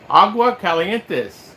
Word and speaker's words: Aguascalientes: Greetings from Aguascalientes, Mexico. You know what? You got that right. Agua Calientes, Mexico. Did I say it right? You said it right.